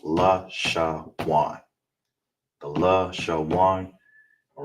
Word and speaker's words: Lashawan: And the na is together, so it's pronounced law, sha, wan.